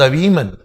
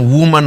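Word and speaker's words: women: ध्यान दीजिए, ये यहां पर प्लूरल है, इसके प्रोनाउंसिएशन अगर ये सिंगुलर है तो इसका प्रोनाउंसिएशन वुमन होता है, लेकिन प्लूरल है इसको बोलेंगे वुमन नहीं वीमन, वीमन।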